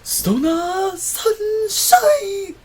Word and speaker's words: Stoner Sunshine: Stoner Sunshine! No, brother, you can't pronounce it like that. You have to pronounce Stona Sunshine!